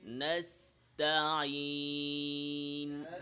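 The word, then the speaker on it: نستعين: কিভাবে বলতে হবে? স্বাভাবিকভাবে মুস্তাকিম বলেন, নাস্তাইন, স্বাভাবিক, জিহ্বাতে আমরা প্রেসার দিব না।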